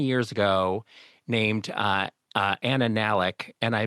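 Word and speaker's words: Anna Nalick: our show 20 years ago named uh uh Anna Nalik, and I mispronounced her name, Anna Naik, uh 10 times to the point where she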